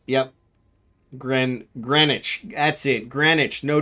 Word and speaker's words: Greenwich: Gren. Greenwich. That's it. Greenwich. No W. So the second E and the W are both silent.